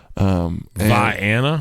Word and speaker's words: Vienna: Vienna? Vienna. It's spelled like Vienna, but it's Vienna.